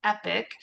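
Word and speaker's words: Epique: It's Epic Realy. Um and it is spelled E P I quue E. Epic. it is the the French spelling and so when we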